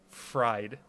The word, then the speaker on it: Fried: Tonight in the studio, if I could be so bold as to call it that, we got Spencer Freed. I'll take it, man. It's spelled Deep fried rice, baby.